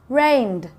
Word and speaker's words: rained: Rained. It's the soft D sound.